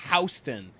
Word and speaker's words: Houston: a minute ago but the street is pronounced Houston New York so Soho means south